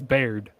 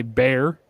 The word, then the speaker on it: Baird: too because people okay my last name is Baird but people say bear like no it's not bear there's a d on it bear duh the